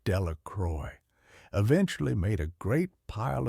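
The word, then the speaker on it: Delacroix: Bobby and Harry Jones and Dicky Delicqua, the villagers pronounced this name Delroy, eventually made a great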